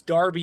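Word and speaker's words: Derby: met this dude in Darby which is spelled D rby Y but it's Darby England we were playing and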